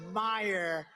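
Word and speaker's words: Meijer: Against one of the 10 impeachers, a guy who spells his name M-E-I-J-E-R, but they pronounce it Meyer.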